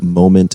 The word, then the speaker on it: Momnt: absolutely um and ever everyone following at home moment is spelled without vowels they're expensive yes well no